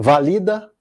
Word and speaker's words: valida: Agora, vamos variar a palavra para paroxítona. Valida e pratica. Um, dois, três, valida. Um, dois, três, pratica. Um, dois, três, valida. Um, dois, três, pratica. Quando acaba o compasso, coincide com a sílaba tônica.